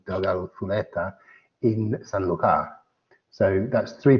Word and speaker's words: Delgado Zuleta: And it's actually aged at the Delgado Zuleta in Spanish proper pronunciation, Delgado Zuleta, in Sanlúcar.